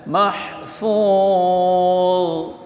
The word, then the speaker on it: محفوظ: Fi lauhim mahfuz mad arid disukun kemudian akhirnya mad arid disukun dan di akhir adalah huruf dha bukan dhat tapi dha bacanya mahfuz.